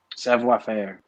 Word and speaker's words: savoir-faire: Is that how do you say it? Savoir-faire. You said it right. Savoir-faire.